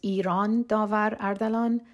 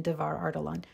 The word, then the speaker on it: Iran Davar Ardalan: space and very briefly my full name is Iran davar ardalan and that's how it's pronounced it's very difficult to pronounce and for years my professional name has been Devar artalon so I thought I'd